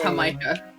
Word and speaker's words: jamaica: It's spelled like Jamaica, but it's pronounced Jamaica.